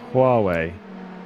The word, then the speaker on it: Huawei: Can you pronounce the word though, Lewis? Huawei.